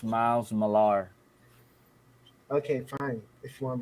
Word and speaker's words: Millar: I love it so much is because Miles Miller and uh um Jeff you know Smallville created actually pronounced miles Millar okay fine if you want to be I